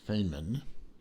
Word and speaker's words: Feynman: to me by the manufacturer itself which is pronounced feynman f ey n ma n Feynman a review